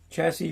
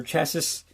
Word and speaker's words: chassis: I got the chest, the chassis, however you want to pronounce it. Chassis or chassis.